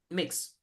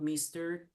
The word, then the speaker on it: Mx: real I'm serious so mix yeah they like they prefer not Mis not miss not miss mix and the abbreviation is MX yeah mix mix okay okay so I